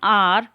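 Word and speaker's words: hour: It takes me एन आवर टू गेट to school, are तो ये यहाँ पर एच साइलेंट है, ओ की साउंड दे रहा है, तो हम यहाँ पर एन लगाएंगे।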